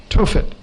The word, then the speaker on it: Tophet: the old testament is t-o-p-h-e-t t-o-p-h-e-t tophet i think it's written th in the king james t-o-p-h-e-t-h tofit modern pronunciation and it means a